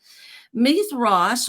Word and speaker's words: Mithras: m-i-t-h-r-a-s if you're wanting to know how to spell it meath Ross was a Sun God all right and uh